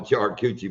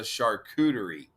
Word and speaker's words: charcuterie: I wouldn't eat crabs off a charred coochie board myself. Charcuterie. Buck has it charred coochie board. I can remember that. That's Buck's board. But the actual thing is a charcuterie.